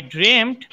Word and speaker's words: dreamt: তখন রুবি কি বলছে দেখো, তখন রুবি বলছে ওয়েল, ঠিক আছে, আই ড্রিমড আই ওয়াজ, এই দেখো এর উচ্চারণটা কি, ড্রিমড, লিখে রাখো, DREAMT, ড্রিমড। ড্রিমড বলো, ড্রিমড বলো, ড্রিমড মানে স্বপ্ন দেখেছিলাম, লিখে রাখো।